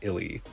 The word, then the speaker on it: ILY: of I love you based on previous promos using the same brand name it is indeed pronounced Illy these leaked seemingly out